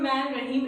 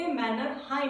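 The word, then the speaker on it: Mannerheim: तो चलिए आगे आते हैं 7th पॉइंट पे जो कि है मैन रहीम रेखा, जिसे हम मैन रहीम रेखा नहीं बोलते, मैनरहाइम बोलते हैं। इसके प्रोनाउंसिएशन पे ध्यान दीजिएगा।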